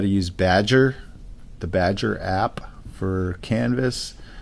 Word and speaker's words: Badgr: the filter by name you're gonna type badger which is spelled BA D gr there it is oops